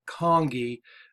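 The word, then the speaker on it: conchae: turbinate bones are also known as the nasal congee and that's why it's pronounced like king kong king kong ii think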